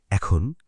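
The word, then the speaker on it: へ: এখন শিখব কোথায় যাচ্ছি সেটা কিভাবে বলি। জাপানিতে ডেস্টিনেশন বা ডিরেকশন বোঝাতে এ পার্টিকেল ব্যবহার হয়। লিখতে হয় হে, কিন্তু উচ্চারণ হয় এ।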